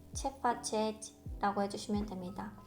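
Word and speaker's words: Ce faceți: 그래서 그 상대, 제가 말하고 있는 상대가 나보다 높은 사람일 경우 또는 잘 알지 못하는 사람일 경우에는 체파체지, 체파체지 라고 해주시면 됩니다. 있지 하실 때 이가 거의 묵음이에요.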